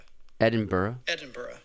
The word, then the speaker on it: Edinburgh: So I got the pronunciation right here. Ready? Let's hear it. Edinburgh.